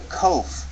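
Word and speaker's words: qof: the kof the kof it's um like the K in King like the like the cough we learned earlier but it's a little more back in the throat you can think of there's King where the pronunciation is more forward in your mouth but then you can try to pronounce King slightly further in the back beginning deeper in your throat King very slight difference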